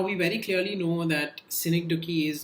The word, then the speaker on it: synecdoche: It's pronounced synecdoche.